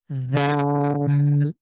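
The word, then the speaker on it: ذ: চাপ দিয়ে আ দাল জাল জালটা পাতলা করে হ্যাঁ জালটাকে পাতলা করে জীবটা সামনের দিকে দাঁতের সাথে লাগিয়ে পাতলা করে জাল জীব বের হওয়া ছাড়া এটা আপনার শক্ত হয়ে যাবে অনেকটা জিমের মত হয়ে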